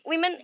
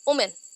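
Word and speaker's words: women: भी वुमेन या फिर विमेन ऐसे नहीं बोलते, जस्ट लाइक वुमेन, सो वुमेन नहीं होता, विमेन।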